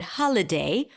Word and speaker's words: holiday: so for example in the word holiday holiday has three syllables usually it's the number of vowels in the word not the vowel letters but the vowel sounds ha L day three syllables holiday now notice that I didn't say holiday because the middle vowel is awah sound so I reduced the vowel there to awah ha day so we have three